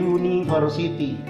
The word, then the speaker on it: University: bacanya tulisannya Umi versity tapi ingat cara bacanya Yuni harus Siti rasakan di University University Yuni Yuni Siapa yang namanya jangan-jangan